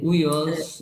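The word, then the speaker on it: υἱός: Uios. A pronúncia do H é o R nosso, é o H americano, de house, né?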